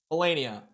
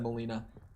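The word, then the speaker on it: Malenia: most as well uh melenia I I almost said her name wrong I almost said Molina melenia was the most by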